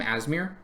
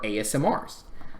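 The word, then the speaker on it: Aasimar: I always called them Asmir until I started hearing how other people actually pronounce their names, and I felt really dumb because they are not ass smears. They are ASMRs.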